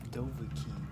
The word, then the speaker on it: Dovahkiin: How do you pronounce this? It's Dovahkiin.